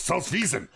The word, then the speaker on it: Salzwiesen: If you want to say it right, you have to put a little anger behind your voice." Salzwiesen.